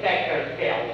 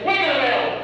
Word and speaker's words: Beggarville: You don't know how to say it right, sir. You say it's from Beggarville. Don't say Beckerville, for God's sake. Who's ever heard of Beckerville, right? It's Beggarville, right?